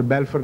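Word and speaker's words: Balfour: सबसे ज़्यादा इनका असर बेलफोर, उसका सही प्रोनाउंसिएशन भी बेलफर है अंग्रेज़ी में, वो मैं पहले मुतरद्दिद था, मैं बता रहा हूँ आपको।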